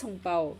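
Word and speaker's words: 红包: Yeah, it is hong bao. It is hong bao. So we also call it hong bao, but then I think ang bao is like the Singaporean way of saying it.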